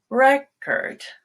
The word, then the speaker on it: record: the syllable stress itself so the noun you start high on record and drop she set